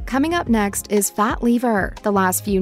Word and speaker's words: Lever: The word lever in Fat Lever is pronounced lever though.